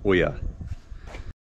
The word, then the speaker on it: ollas: go at making oers spelled o l l a s but it's pronounced Oya so this is a